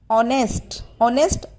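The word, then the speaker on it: honest: और ऑनेस्ट में H silent होता है बेटा, तो आपको जब भी वावल साउंड आती है उससे पहले हम हमेशा एन यूज़ करते हैं.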